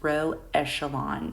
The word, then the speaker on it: row echelon: in a row echelon form so that is row echelon that's how we pronounce that so before we begin there's a